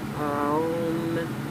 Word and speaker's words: Om: the 3 sounds of Om into the universe. There are 3 syllables present in the word Om, and they are Ah plus O plus So it was only